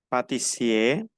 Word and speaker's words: pâtissier: Exemple, Pâtissier, no pronuncio la R, el masculino.